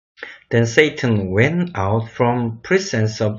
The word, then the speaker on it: Satan: The Lord said to Satan. Satan이라고 발음을 해야 됩니다. 이거. Satan.